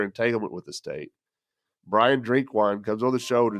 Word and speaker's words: Drinkwine: name, but I didn't ask you how to pronounce it right off the bat. Yeah, it is. It's Drinkwine.